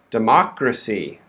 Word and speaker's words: democracy: next one we have democracy democracy okay so the stress now is on the second syllable so the first syllable is quick d actually can be a schwa too democracy democracy okay so the first word